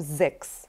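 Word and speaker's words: sechs: тутто кстати Ахтунг Да не забывайте про вот такое буквосочетание ц х с произносится всегда вот как звонко КС как кошечку зовём Да кс-кс потому что у нас очень много таких есть если сцх то это ш просто ЦС Да вот если мы закроем это было Х как их Мих дих них но мы сейчас видим цхс - это звонкая КС теперь возвращаемся к гласной и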